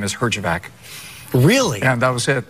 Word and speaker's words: Herjavec: Herjavec? You know, the proper pronunciation, you'll be the only guy to ever hear this on TV, is actually Herjavec.